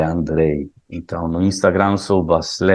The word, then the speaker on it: Andrej: Lembrem-se, Andrei escreve com J e pronuncia como I, né? Não é Andregi, é Andrei.